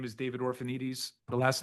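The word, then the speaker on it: Orphanides: My name is David Orphanites. The last name is spelled O R P H A N I D Ess.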